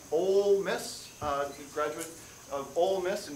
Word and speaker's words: Ole Miss: Professor Olsey, Professor Michael Olsey, my other good friend, occasional basketball cohort, and a 2000 graduate of, I've been told it's pronounced Ole Miss, graduate of Ole Miss in physics in 2000.